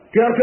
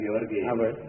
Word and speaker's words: George: presiden Amerika yang pertama George Washington bukan Georgi Bacanya jangan Le George